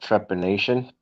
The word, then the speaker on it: trepanation: Yeah, the thing that I was calling it to pronounce it properly is called trepanation.